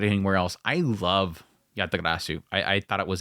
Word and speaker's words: Yatagarasu: think I got it anywhere else I love yatagarasu I I thought it was a phenomenal series and I'm going to spell it out because everybody goes what is he